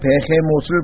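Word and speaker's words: Behemoth: 욥기 40장 15절에 보시면은요, 거기 보시면 이제 내가 너를 만들 때 함께 만든 베헤못을 볼지어다. 이 베헤못이라고 하는 단어는 영어 단어는 아닙니다. 비히못이라고 영어로는 발음을 하는데 이 비히못이라고 하는 이 짐승은 히브리어입니다.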